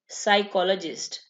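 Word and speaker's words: psychologist: साइकोलॉजिस्ट, इसमें पी जो है ना वो साइलेंट होगा, साइकियाट्रिस्ट में भी और साइकोलॉजिस्ट में भी पी साइलेंट होगा।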